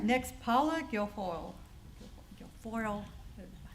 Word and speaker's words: Guilfoyle: Guilfoyle. Tongue does not wrap. Rhymes with tinfoil.